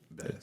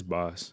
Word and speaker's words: Bas: Is it Boss or Bass? It's Boss.